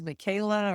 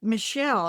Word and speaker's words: Michaela: No, she actually goes Michelle. I think she pronounces Michelle, but it's spelled M I C H A E L. Something like that.